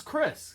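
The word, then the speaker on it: Xhris: it might be risks or something no it's chris he told me it's chris i said it's pronounced chris he's like yeah i said why do you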